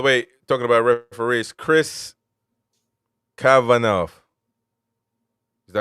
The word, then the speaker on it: Kavanagh: By the way, talking about referees, Chris Kavanagh. Is that how you say it? Yeah. Chris Kavanagh will be the referee for Newcastle Fulham at St.